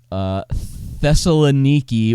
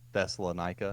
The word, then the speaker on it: Thessaloniki: I was just calling it Thessalonica. See, that's what I was calling it, but it looks like you're supposed to pronounce it Niki and not Nika.